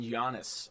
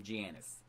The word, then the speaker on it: Giannis: I know I'm pronouncing Giannis correctly because I did this question live once, and I got yelled at for calling him Giannis. Sounds like Janice.